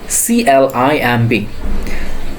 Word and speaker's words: climb: So we can see the first one, CLIMB. So if you notice this thing, B sits after M. So B will be silent in here.